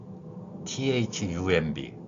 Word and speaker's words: thumb: 않는 th 발음이 있습니다 흔히 번데기 발음이라고 하는 글자입니다이 발음을 보면 양로 혈을